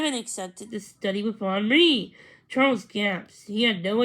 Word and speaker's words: Henri: Second of all, it's a name spelled Henri, pronounced Henri, with the accent on the second syllable.